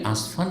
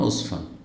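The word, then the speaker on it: عسفان: শব্দটার উচ্চারণে আসলে জায়গাটি আসফান না উসফান এ কিছুদিন আগে এক ভাই আমাকে যে এয়ারপোর্ট পৌছাচ্ছে একদম মাস আগে গেছিলাম সফরটা সেও আসফান বলে উঠেছে তোমার আসফান কেন বলছে এটা তো উসফান তো আমরা তো জানি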